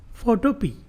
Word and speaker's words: Photopea: ওকে, তো এখানে দেখেন আমরা চলে যাব ফটোপি। গুগলে লাগবে ফটোপি, PHOTOPEA। এটা পিয়া না, এটা পি, উচ্চারণ পি, ঠিক আছে?